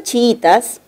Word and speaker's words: chiitas: algo de los chiitas la palabra chiitas presenta un I simple verdad dos vocales cerradas iguales pero la sílaba tónica es la segunda y eso quiere decir que la palabra se entiende Como grave una grave que termina